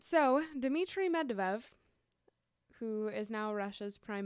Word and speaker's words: Medvedev: Medvedev? It's Medvedev.